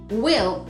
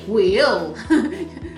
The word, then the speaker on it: we'll: say both words but the new contraction takes a life of its own and has its own sound so it keeps the